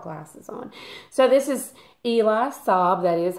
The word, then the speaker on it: Eli Saab: read it without glasses on so this is eli saab that is how you pronounce his name les parfum and this is